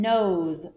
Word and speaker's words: nose: jump over the consonant the o is long the e is silent and the s is voiced nose and we do see